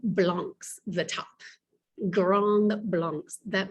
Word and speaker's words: blanc: social classes those four classes were called grong blanc's the top grand blanc that means large whites